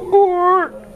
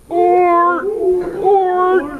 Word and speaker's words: Oort: Okay, that the double O in Dutch, you actually have to pronounce by inhaling, right? So go Oort, Oort.